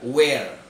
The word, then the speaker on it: where: Kemudian ada kata where, where, ya. R-nya nggak terlalu dibaca, where.